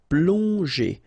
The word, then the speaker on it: plonger: Okay, so here you get, obviously, as usual, the ending er, so you pronounce it e, so plonger, plonger.